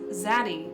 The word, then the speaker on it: Xaddy: Like a Pronunciation guide for the word spelled Xaddy is Xaddy. It's just, you know, it could be daddy, could be Xaddy.